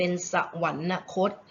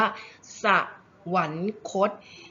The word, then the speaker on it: สวรรคต: อ่าน กัน ผิด เป็น สวรรนคต แต่ ไม่ ใช่ นะ คะ คำ นี้ เรา จะ น ว่า สวรรคต มี 3 พยางค์ เท่า นั้น คำ นี้ เรา จะ